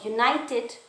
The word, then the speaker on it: united: Okay, so united, though it starts with the vowel u, but there is a consonant sounds of y o u.